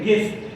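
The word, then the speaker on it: guess: পরের শব্দটি হলো গেস জি ইউ ই এস এস এখানে এই ইউ এর পরে ই ভাওয়েল রয়েছে এজন্য ইউ সাইলেন্ট থাকবে গেস অনুমান করা বা ধারণা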